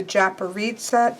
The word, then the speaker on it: Japaridze: Uh but I trust Bart very much when it comes to pronunciation. And so for me, this is going to be the Japarita Tarot.